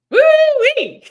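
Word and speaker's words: wu wei: So T, I'm gonna let you tap into that one because woo-wee! I think that's gonna stick. And it's really interesting how it's spelled. It's WUWEI.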